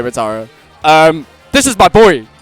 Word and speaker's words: Metara: And Madata, is that how you say it? Yeah, Matara. You can just say Matara.